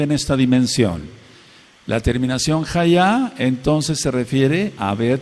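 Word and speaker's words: היה: Aber o tener en pasado y futuro es el verbo ser o estar, que es cómo se dice, jaá. Se escribe con una he, una yod y una hei.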